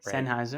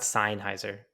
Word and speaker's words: Sennheiser: say this company's name sennheiser sennheiser it's not seinheiser obviously it's not even spelled like that i don't know why